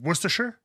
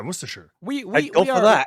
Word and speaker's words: Worcestershire: going to lancaster religion wait how do you pronounce the sauce that is lean parents that is what oh it is worcestershire yeah see that's got it yeah right that's yeah worcestershire oh don't worry when i was like 10